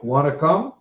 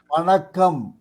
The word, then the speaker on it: Vanakkam: Say it again. Wanna come? Vanakkam. Wanna come? No, one. Yes, correct. Wanna come?